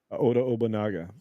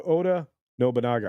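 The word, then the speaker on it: Oda Nobunaga: probably be for obona who's an actual Samurai Oda obona uh Oda Oda noaga I always say his name wrong thank you for the correction Carlos Alfredo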